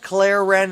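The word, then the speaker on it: kleren: Some might demand various drinks from cool water to fiery kirin, pronounced claren, a high-proof rum.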